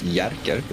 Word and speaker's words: Jerker: Scandinavian name, and it's Swedish people don't pronounce the J like hard J. We go Y with the J's, so it's Jerker is how you pronounce that name.